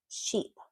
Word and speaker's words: sheep: And then the E, this is a long E, sheep, E, ship, sheep, ship, sheep.